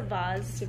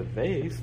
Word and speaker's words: vase: I know it um it's a vase face I was gonna say if you say I'm sorry I'm disowning you as my teacher I do put flowers in a box I'll put flowers in a vase I don't know what else is it's like you're adding a face face face a face it sounds like you're saying a z though a bass it sounds